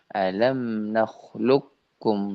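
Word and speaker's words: ألم نخلقكم: Alam nakhluqkum dibaca alam nakhluqkum, langsung masuk ke huruf kaf.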